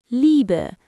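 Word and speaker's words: lieben: Liber. Stress the lie.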